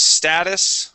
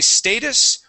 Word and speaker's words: status: You can say status or status. Oh goodness. Oh yeah, right here. Right here. So status. Personally, in my family and how I grew up, we grew up saying the word status. Okay. I have heard other people say status. All right, and either way is fine.